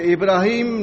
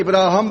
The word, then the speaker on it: ابراہیم: اس کو کر دیتے ابراہم کر دیتے ہیں. ابراہیم سے تلفظ بگاڑ کے ابراہم نام رکھ دیتے ہیں. آپ سمجھے؟ حالانکہ نام ابراہیم ہی ہے اس کا، لیکن کیونکہ ہندوؤں سے